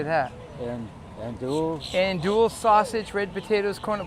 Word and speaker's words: andouille: Andouille.